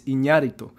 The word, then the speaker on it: Iñárritu: Fernando Moreno says the Spanish pronunciation is Iñárritu.